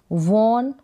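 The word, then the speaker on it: won: वॉन का मतलब जीता, तो इसका उच्चारण वन करके भी होता है, वन।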